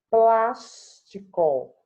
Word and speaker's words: plástico: Plástico. Qual é a sílaba tônica? Plas.